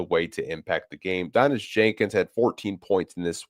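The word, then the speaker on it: Daniss Jenkins: Last podcast, I was pronouncing his name wrong. Someone had called me out on it. It's Donis Jenkins. I keep saying Donis Jenkins. It's Donis Jenkins. I will correct myself from here on out.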